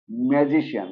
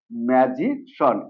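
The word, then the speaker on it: magician: pronunciation করি সেটা হলো ম্যাজিশিয়ান রাইট না আসলে এটা ম্যাজিশিয়ান না এটা হলো ম্যাজিশন এই যে সিআই এন এটা হয়ে যাবে শোন ওকে তাহলে এটা ম্যাজিশন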